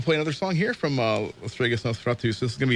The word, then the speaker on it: Lestregus Nosferatus: But the band is Lestregus Nosferatus, Lestregus.